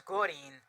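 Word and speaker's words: Gurren: It's not green, it's Gorin.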